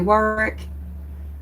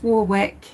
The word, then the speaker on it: Warwick: normally say I'd say Warwick um but it's Warwick you know like the wick burning through the candle of War perhaps doesn't it sound